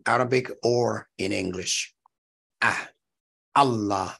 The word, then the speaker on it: Allah: Ah, Allah, that A at the beginning of Allah is a guttural also. The second sound of A, Allah, that ah right there, that's a vowel. So Allah contains a guttural called alif, as well as the vowel fatha.